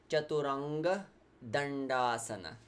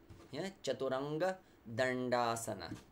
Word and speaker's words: Chaturanga Dandasana: we do plank on the floor it's called chaturanga dandasana chaturanga dandasana so the stick yeah four-cornered stick so here